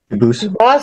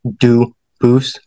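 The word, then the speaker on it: Dubois: get your name straight I know a family with that the same exact spelling in American they do pronounce it dubis but you said you pronounce it duus as the original du Boose as the original French French yep very well Duo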